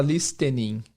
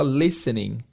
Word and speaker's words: listening: A palavra listening tem um T que não é pronunciado. A gente não fala listening, a gente fala listening.